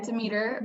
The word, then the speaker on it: Demeter: alternatives aside from the i guess you mentioned demeta and um or d meter i guess how do you say it yeah yeah demeter biodynamic yeah yeah i mean we all like